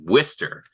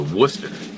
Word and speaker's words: Worcester: you guys didn't notice he said the name of the town where he went to high school as whester which is an even grosser uh mispronunciation of it than how Massachusetts people normally say it um he went for Wester as opposed to Worcester let